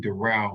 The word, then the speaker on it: Darrell: to say your name door as in door and well as in relish that my name is